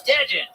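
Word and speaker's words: DeJuan: And I was like, You're like, it's Dejan. Yeah. It's Dejan, bitch. It's Dejan. Spell it.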